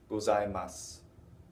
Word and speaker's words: gozaimasu: Yet the way I've been pronouncing it, and the way most Japanese people will say this, is gozaimasu, onegaishimasu. They won't say the onegaishimasu or the gozaimasu. They won't put that u on the end very distinctly.